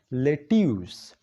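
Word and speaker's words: lettuce: Let us. لیټس نه دی. د دې سپیلنګ وایي چې دا لیټس دی خو دا لیټس نه دی، دا دی لیټیوس. څه؟ لیټیوس. او لیټیوس څه ته ویل کېږي؟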